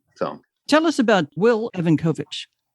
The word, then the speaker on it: Evankovich: So tell us about Will Evankovich. Will Ivankovich. Sorry. Ivankovich is how they pronounce it.